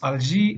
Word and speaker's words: Alger: have the capitalist Algiers in French it's algae and in Arabic it's aljazair as well as the